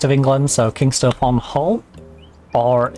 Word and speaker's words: Hull: Um h well I live up in the northeast of England so King on Hull or if you're local you don't pronounce the H. You just say all but I am I